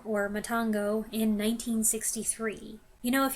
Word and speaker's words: Matango: Next, we went for Matango, or Matango, which my mom and I had previously watched in English as Attack of the Mushroom People.